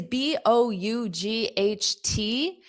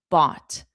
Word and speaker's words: bought: Because B O U G H T is pronounced exactly the same as B O T. bought bought.